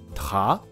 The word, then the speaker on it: travailler: travailler、 travailler、このように発音します。